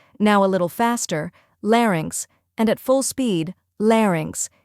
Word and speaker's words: larynx: let's break it down first we have Lair which rhymes with air or bear next is inks where